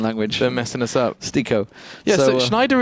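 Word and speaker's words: STYKO: Stico, by the way, is apparently how we pronounce it, not Styco. Stico. Okay, yeah. Brilliant. I mean, Styco is just kind of the logical. Yeah, because it's a Y. That's English, right?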